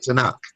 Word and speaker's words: Tanakh: The 3 letters TNC or TNK. Okay. When you put it together, you pronounce it Tanakh.